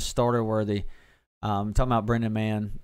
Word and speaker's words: Mann: Talking about Brendan Mann. It's pronounced Man, guys, not Mahone.